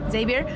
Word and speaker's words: Xavier: So Xavier, that's how you say it? Yeah. Xavier was a young boy who's never loved before.